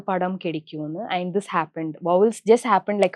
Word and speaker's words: Vowels: வாவல்ஸ்.